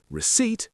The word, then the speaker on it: receipt: We also have island with a silent S, biscuit with a silent U, receipt with a silent P, and muscle with a silent C.